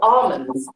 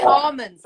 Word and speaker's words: almonds: Gabby, is it almonds or almonds? How do you say almonds. I don't say the L, but I could be incorrect.